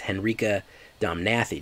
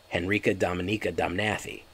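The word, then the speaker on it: Henrika Domnathi: the lore henrique dominica you're going to say her name isn't here dominica it's it's henrikh domnathy jay you're saying it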